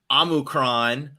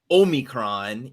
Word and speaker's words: omicron: of is that okay the last one is amuckron or omicron either way would be acceptable ways to pronounce can you tell me